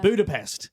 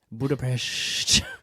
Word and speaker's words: Budapest: annoys me when people say budap you mean Budapest Budapest you know who you are oh it's so